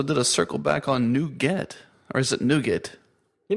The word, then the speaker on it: NuGet: communities we also did a circle back on new getet or is it nougat you know uh he pronounced it nougat i' always said nougat in my head so